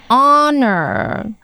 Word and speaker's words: honor: previously award and we also mention the verb honor okay the AG is silent okay hey Mike I have a question